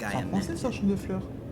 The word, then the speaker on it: Champ de Fleurs: français, ça, champ de fleurs. Champs de floors? How do you say that? It's Champ de Fleurs.